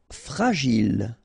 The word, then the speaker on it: fragile: Fragile. Okay, final E not pronounced, and then when you get this G and I, Gilles, fragile.